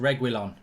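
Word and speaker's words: Reguilón: Red Carter says it's pronounced Reguilon.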